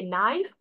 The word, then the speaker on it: knife: but knife n i instead of telling K knife we'll say as that it as knife why because why sorry K is silent here others will also be